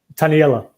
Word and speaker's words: Taniela: Is it Taniela? Is that how you pronounce that? Taniela. Taniela. Taniela. Okay, yeah.